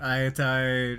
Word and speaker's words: Aitai: So awesome that Aitai rhymes with I and I.